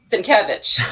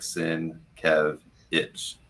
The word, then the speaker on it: Sienkiewicz: image was there, and it was like Sin Kev Itch, so that he didn't even spell it out the right way. He just put it out there so you would know how to pronounce it.